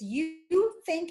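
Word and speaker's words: YouThink: And you spell it, it's You Think as one word. So it looks like Youth Inc. You Think.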